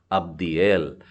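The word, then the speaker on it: עבדיאל: तो ये है याइन और दो डॉट है नीचे है, मतलब अ का उच्चारण आ जाएगा। उसके बाद में बेथ भी ब के उच्चारण के साथ में है, और दालेथ है ई यानी दी हो गया, तो अ ब दी, और उसके बाद में एल, तो ये नाम हो गया अब्दिएल।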